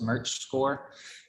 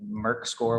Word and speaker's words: Merchscore: call this merch score there's an alternate pronunciation merck score with the hard k if you go west of the blue ridge but here east of the blue ridge we call it merch score and essentially it's a